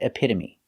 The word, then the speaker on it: epitome: they're very special because they end with e but the e is not silent we pronounce them all the same with a long e like green beans hyperbole vigilante and epitome thanks for watching and